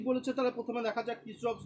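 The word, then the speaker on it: Kirchhoff: বাংলায় পড়েছিল মনে হয় কারশফের সূত্র, আর ইংরেজিতে উচ্চারণ করলে হয় কিরচফস ল।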